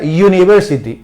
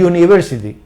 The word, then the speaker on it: university: Why consolen and Sound por lo tanto el sonido aquí no es una vocal es consonante Ok y se pronuncia University y University Ok y University hay